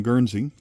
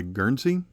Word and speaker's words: Guernsey: And that first coin that I had purchased was from Guernsey, like this one.